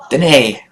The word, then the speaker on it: Danae: Lauren Danae. Like Renee. Okay. I did it! I said it right for a change. Danae.